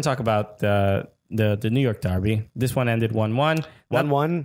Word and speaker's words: Derby: England we're going with Derby by the way I mean that's the Scottish accent I say Darby alright well I'm gonna say Derby then just to annoy the fans because now there's two pronunciations but you know for